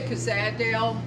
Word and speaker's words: Cozaddale: How do you pronounce it, Ruth? I say Cozaddale.